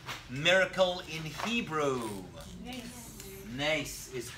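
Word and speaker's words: נס: itself how do you say miracle in Hebrew Nace is correct nice in the singular in the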